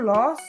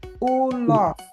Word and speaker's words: ulos: yang salah nih pelafalannya bukan Los tapi ulos ulos ya diingat-ingat ya Nah terakhir